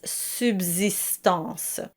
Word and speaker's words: subsistance: And watch out for the word subsistance, the second S is pronounced as a Z or Z and it's not as you would expect having the soft S. It's subsistance.